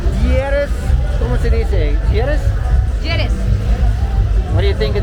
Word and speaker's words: Lleras: Lleras.